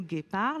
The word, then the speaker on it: guépard: Dans le mot guépard, la lettre G se prononce G.